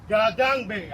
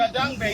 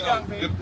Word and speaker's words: Gadangbe: Gadangbe. I know the Gadangbe. You know the Gadangbe. Don't say Gangbe.